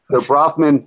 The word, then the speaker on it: Bronfman: Am I pronouncing that correctly, Howard? Bronfman.